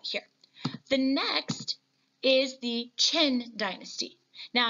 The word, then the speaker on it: Qin: The next is the Qin dynasty. Now, I know it's pronounced, or it looks like it's got the Q there, but it is Qin.